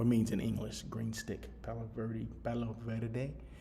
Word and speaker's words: Palo Verde: Palo Verde. That's the Spanish pronunciation, okay?